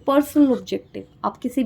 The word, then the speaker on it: personnel: Next is पर्सोनेल aspect. This is नॉट पर्सनल।